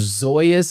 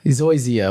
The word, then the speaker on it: Zoysia: So I am a fan of Zoya's. I think I'm saying it right. Zoya's grass or Zoya. Zoysia. What? Yeah, Zoysia, whatever.